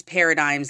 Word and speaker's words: paradigms: pronouncing that word right it's paradigms like like dimes like there's ten dimes in a dollar yeah paradigms it's the